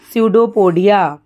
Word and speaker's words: pseudopodia: amiba amiba moves using pseudopodia p is silent so it's called pseudopodia last point but not